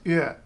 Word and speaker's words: yö: And that probably looks to you like it should be yo. Hey, yo, it's night. No, I'm sorry, it's Ö. Ö.